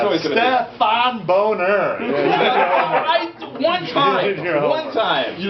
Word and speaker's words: Stephan Bonnar: Stefan still Stefan St still stepan it's always Stefan boner one time one time you know when he